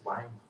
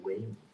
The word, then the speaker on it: Weimar: Bueno, y la alemana de Weimar, es Weimar, no es Weimar, esto es una buena pronunciación.